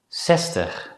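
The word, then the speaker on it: zestig: Before we conclude this lesson, it's worth mentioning that nowadays many native Dutch speakers pronounce the letter Z as a voiceless consonant S.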